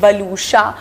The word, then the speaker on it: Waluscha: My name is also not very easy to pronounce, बलूशा, मगर people have started you know knowing how to pronounce the name.